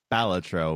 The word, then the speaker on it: Balatro: For those who have not heard, apparently it is pronounced Balatro.